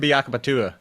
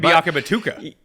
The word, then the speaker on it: Biakabatuka: back in the day was Tim Biakabatua. I don't know why you just could always say that one. Tim Biakabatuka. Batuka. Yeah. Did I say? I see. I even said it wrong then.